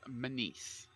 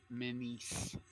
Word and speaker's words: Menees: To say my last name, it's Menees. So I always tell it's like MEN space EE space S. So yes, Menees, and you have to have